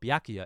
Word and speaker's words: Byakuya: hours of this game I could not for the life of me pronounce baku's name um byakuya byakuya bukkaki and other such names but byakuya is his name he is a little